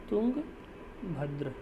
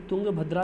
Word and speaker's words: तुंगभद्र: River लिख दूँ मैं, तो रिवर का नाम है तुंगभद्र, या फिर तुंगभद्रा भी लोग बोल देते हैं, बट अगर हम राइट प्रोनाउंसिएशन की बात करें तो तुंगभद्र है।